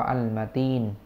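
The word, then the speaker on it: المتين: หรือ ว่า อัล มาตีน มี ตัว อลิฟ ตัว ลาม นะ ครับ ตัว มีม แล้ว ก็ ตัว ตา ตัว ยา ตัว นูน นะ พี่ น้อง อ่าน ว่า อัล มาตีน หรือ ว่า อัล มาตีน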